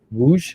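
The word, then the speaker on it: Łódź: So there's a place in Poland that also begins with that L letter, but with a pronunciation Lodsz, I believe. Woosh, right? Yeah.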